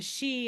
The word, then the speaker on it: Sidhe: And so the she is spelled Sidhe, right?